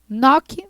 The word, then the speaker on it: knock: escrita também tá vendo Então inglês nós falamos noc noc se escreve knockout2 as duas vezes você vai repetir